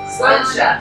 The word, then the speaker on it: Sláinte: Sláinte. Sláinte, exactly. Or if you're having trouble pronouncing that, just say it's a lawn chair really fast.